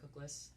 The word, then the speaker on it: Kuklis: Kuklis, yes.